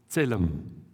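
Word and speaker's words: צלם: Now, in the Hebrew word for image is this word, and I dare you to pronounce this. Yeah, tselem.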